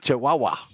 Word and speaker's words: Chihuahua: brand just a minute you're mispronouncing it's the chahua it's I chahua Chihuahua there you go all right thank you